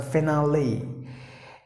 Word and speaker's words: finale: finned fiend finale finale please don't get confused with the spelling it is actually e the spelling but it is pronounced like the letter I hear after the letter L so finale and finest fine missed the